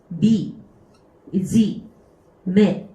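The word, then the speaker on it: 惨め: 이 비참할 참자가 훈독으로 읽는 경우가 있어요. 나중에 이제 치읓 한자 할 때 또 보게 될 텐데 얘를 이제 참혹하다, 참자라고 이해하는데요. 얘를 넣어서 미, 지, 매 라고 읽게 되면은 이 미지매라고 하게 되면은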